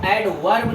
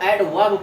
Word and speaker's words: adverb: इसको एडवर्ब नहीं पढ़ते, इसको एडवर्ब पढ़ते हैं। यहाँ पे आर साइलेंट होता है।